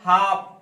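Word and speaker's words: half: उसके बाद है हाफ, एफ से पहले है, जो भी एम एफ के डी से पहले एल आएगा ना वो एल साइलेंट हो जाएगा हाफ।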